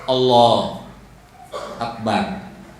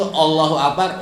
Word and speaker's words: Allahu Akbar: Misalnya gini tak, Allah Akbar, yang hilang huruf apa? U-nya, itu nggak sah. Atau dibacanya dalam hati. Kagak sah. Jadi itu Allahu Akbar wajib dibaca dengan lisan, wajib kedengar oleh kuping kita.